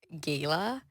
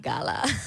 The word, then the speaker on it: gala: Okay, so I always say that if you're classy, you Okay. say gala. Okay. If you're just like, uh, you say Mm. gala.